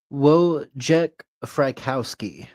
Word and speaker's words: Wojciech Frykowski: the time, Jace Sebring, Abigail Folger, I can't pronounce that one name. Oh gosh, it starts with W. It's Wojciech Rajkolski, I guess how you say the name.